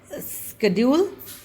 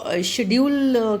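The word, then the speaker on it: schedule: to sucked next आपका स्केड्यूल mostly इसको शेड्यूल की तरह यह प्रोनाउंस नहीं होता है ओके इसका सही प्रोनंसिएशन होता है स्केड्यूल या स्केड्यूल ओके इस तरीके से य प्रोनाउंस होता है तो इसका मतलब है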